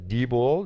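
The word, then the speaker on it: Diebold: loss on a dbd uh Debold as it was uh explained to me that that's how it's pronounced um can't remember why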